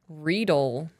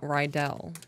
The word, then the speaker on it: Riedel: And then fun fact, it's pronounced Riedel, not Rydell.